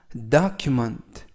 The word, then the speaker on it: document: 이번 표현은 document, document, document 라고 발음하시면 되겠고요. 이때에도 단어가 길어서 강세를 말씀드리면 앞에 다 할 때 알파벳 O의 강세가 있습니다.